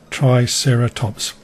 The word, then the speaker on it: Triceratops: been collected all over the world how to pronounce the dinosaur and prehistoric animal names in this book triceratops three-horned face try sarah tops pteranodon ankylosaurus crooked lizard and kyle saw elasmosaur